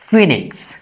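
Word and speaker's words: Phoenix: কোন ওয়ার্ড এর মাঝে ওই থাকলে তার উচ্চারণ হয় দীর্ঘ ই বা ই এর মত। For examples ফিনিক্স।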